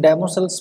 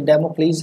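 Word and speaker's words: Damocles: पहली बात तो मैं आपको ये बता दूं कि इसको जब भी आप पढ़ो तो इसको डेमोसल्स मत पढ़ना, ये डेमोक्लीज है इसका राइट प्रोनाउंसिएशन, ठीक है।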